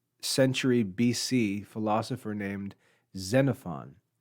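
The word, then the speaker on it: Xenophon: BC philosophy ER named zenfon his name is spelled with an X and pronounced zenfon he lived uh during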